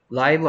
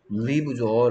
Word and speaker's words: live: 라이브 아닌데요. 리브죠. 라이브라고 읽을 것 같은데. 얘를 라이브라고 읽으면 다른 뜻이 돼요. 물론 라이브라고 읽을 수도 있는데, 라이브는 살아있는 이란 뜻이에요.